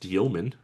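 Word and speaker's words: Demin: I believe I learned this is pronounced Dioman, which is strange.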